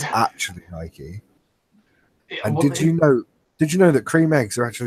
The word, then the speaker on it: Nike: on the last one did you know Naik is actually Nike it's actually Nike oh did you know